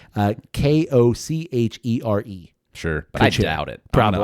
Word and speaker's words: Kochere: I think I'm pronouncing it correctly. Uh k o c h e r e Sure. I doubt it. Probably. I honestly really doubt it. That's not You think it's like Kochere or Kochere Kochere?